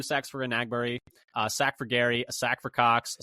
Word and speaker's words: Enagbare: mention, Enagbare as well, which I'm trying to do a better job of pronouncing his name how he pronounces it. We've been saying it wrong for a long time, so we're trying to, correct that now. Enagbare is how he says it.